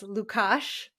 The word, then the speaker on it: Lukas: bit pasta aside from how to pronounce Lucas's name as lukash you know a little